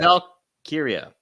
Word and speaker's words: Valkyria: Oh my god, I butchered that. Oh, I love Lyra that. Valkyria.